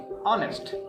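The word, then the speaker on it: honest: যখন আমরা দেখব যে লেখা রয়েছে কনসোনেন্ট কিন্তু উচ্চারণটা হচ্ছে ভাওয়েলের মত যেমন অনেস্ট এইচ ও এন ই এস টি অনেস্ট এটার উচ্চারণ হওয়া দরকার হনেস্ট এইচ ও এন এস টি হ অনেস্ট হওয়া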